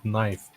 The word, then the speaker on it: knife: struggled with the bird knife because I didn't realize that the K is silent yeah okay I understand